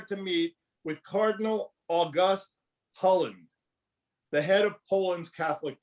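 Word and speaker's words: Hlond: he goes there to meet with Cardinal August Holland, the head of Poland's Catholic Church. That's spelled H-L, there's no vowel there, H-L-O-N-D.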